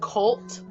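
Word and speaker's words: CVLTE: cult it's spelt civility cv lte but it's pronounced cult and i'm living for all of their songs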